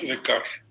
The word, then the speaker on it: Descartes: Fue Descartes o Descartes, como lo quieran pronunciar, porque se pronuncia Descartes.